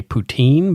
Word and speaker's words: poutine: those kind of things I'm going to continue to say poutine because it's a regional pronunciation and I don't care